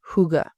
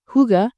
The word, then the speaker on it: hygge: is this idea called hygge. Now, hygge is not an English word. It actually comes from Denmark. It's a Danish word. It's spelled Hygge. So it doesn't look how it's spelled.